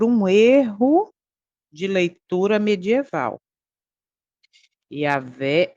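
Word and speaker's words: Yahweh: É Jeová ou é Yahé? Observa. Jeová é uma pronúncia artificial criada por um erro de leitura medieval. Yavé é a pronúncia mais próxima do do original hebraico baseada em estudos linguísticos.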